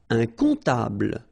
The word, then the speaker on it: comptable: Un comptable, so OM, remember, it goes like on, all right? And then, strangely, this P is not pronounced.